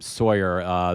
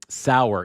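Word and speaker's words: Sauer: But so Sour is how his name is pronounced.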